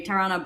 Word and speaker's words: Tarana: all tarana right and tarana burke i mean if you pronounce it in a western way terrana who was the the